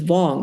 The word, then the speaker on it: Vuong: Um, by the way, which is why while we're here, I often pronounce my name as Vong because that's how he pronounces it. Vong comes from Wong.